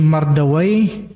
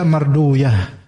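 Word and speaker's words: مردويه: Sebagian ulama bacanya itu waih, sebagian bacanya uyah. Bukan uy. Oh, itu uy. Nah, seperti Mardawai bisa juga dibaca marduyah.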